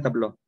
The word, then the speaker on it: tableaux: Entonces, este tabló de aquí, ambos se pronuncian tabló.